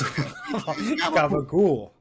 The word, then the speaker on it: gabagool: Yes, it's spelled like if you spelled it, it's capicola. But if you say it, it's gooble gobble. It's gabagool. Which honestly, and it's not even really how Italian people say it.